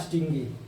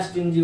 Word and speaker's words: stingy: Fourth word है स्टिंगी या स्टिंजी, उसको प्रोनाउंस कर सकते हैं स्टिंजी या स्टिंगी। तो स्टिंगी शब्द को हम